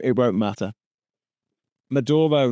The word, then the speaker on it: Maduro: name it won't matter Maduro not madoro Maduro okay can you do